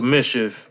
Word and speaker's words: MSCHF: it called mischief mischief yeah okay yeah so mischief uh dropped the shoe with but it's weird